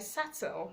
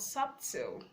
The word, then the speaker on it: subtle: not doubt debts debts so subtle yet aside sattell not subtil okay now you need